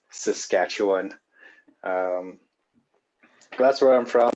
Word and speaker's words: Saskatchewan: I've heard that name butchered quite a few times, so it's pronounced Saskatchewan.